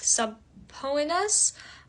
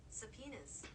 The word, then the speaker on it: subpoenas: that the court ordered subpoenas that's the pronunciation of s u b p o e n a s which isn't a bolded word but I did butcher the pronunciation so I thought you